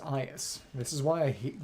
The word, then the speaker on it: Aias: It's not Ajax, it's pronounced Aias.